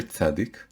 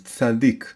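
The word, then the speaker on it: צדיק: You take the letter tzadik, and you pronounce the name of the letter. The name of the letter is tzadik. Sometimes it's called tzadi, sometimes it's called tzadik.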